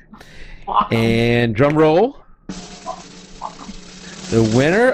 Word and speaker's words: Wacom: I say Wacom. Yeah. I read I was actually just 20 minutes ago reading how to pronounce it online, and somebody called their tech support, and the person on the phone answered Wacom.